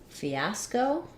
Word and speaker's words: fiasco: for the word fiasco Fiasco second syllable stress letter I says e the letter A says the ah black cat vowel ah go and then our o says C says okay sound Fiasco uh it was a real